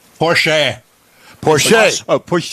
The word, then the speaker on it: Porsche: I met him said Porche Porche oh Porche he's Austrian and that's how they pronounce that final e it's sort of like